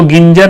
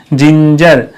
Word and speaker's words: ginger: जैसे GINGER जिंजर, इसको गिंजर नहीं बोलेंगे, जिंजर।